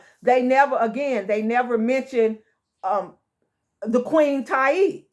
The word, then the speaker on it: Tiye: They never mention the Queen Tai, right? Or Tai, right? It's spelled Tiye, and so people pronounce it Tai. It's pronounced different ways, but the point is